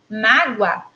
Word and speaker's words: mágoa: som da letra sai quando eu falar palavra mágoa apesar de estar explica aí com a letra O eu pronuncio não é como se tivesse uma letra u e é justamente aí